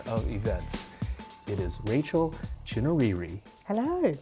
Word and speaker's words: Chinouriri: In Zimbabwe, especially with accent and pronunciation, it's actually Chinouriri.